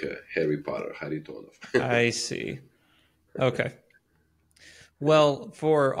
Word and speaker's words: Kharitonov: there it's a the the K is silent should be silent so it's a har tonov like a Harry Potter har tonov I see okay well